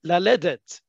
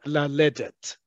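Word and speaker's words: ללדת: There is a significant difference between laredet and laledet. Okay? You need to practice pronunciation as much as the spelling.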